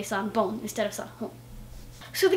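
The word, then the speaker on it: さんぼん: So you might have noticed that I said sanbon and not sanhon, and that's because in Japanese the pronunciation changed to make it easier to say sometimes, and sometimes I don't even know why.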